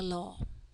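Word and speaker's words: ហ្ល: Okay, so ha chung law, we just sound the law.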